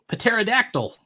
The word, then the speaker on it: pterodactyl: all these black outlines intentionally pronounce the p in pterodactyl pterodactyl I used to say